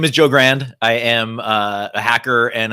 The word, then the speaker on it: Grand: of people spell it Grande so yeah uh when I introduce myself or if I'm on the phone and they're like What's your name I say Grand like a thousand dollars not and um and